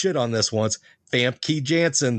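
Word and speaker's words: Famke Janssen: Fam Key Jansen. That's how you say it.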